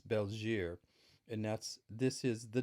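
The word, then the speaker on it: België: the bell here and i used to pronounce it bell G but it's not as bells year and that's this is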